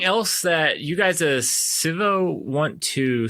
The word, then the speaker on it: Civo: easy to use um or sivo sorry i i initially called you guys civo um as a american